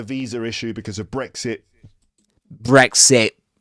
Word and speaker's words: Brexit: That at the end of Brexit is called glottal stop. Okay? So it's the kind of sound we'll hear in expressions like uhoh. Uhoh. Uhoh. Uhoh. Uh-oh. Uh-oh. All right. So, Brexit, Brexit. And it's and it's very common in this accent, you know.